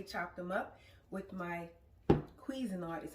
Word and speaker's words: Cuisinart: I've already chopped them up with my Cuisinart is how you pronounce it, 4 cup.